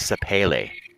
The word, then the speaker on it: Sapele: Oh, apparently, according to YouTube, it's pronounced Sapele.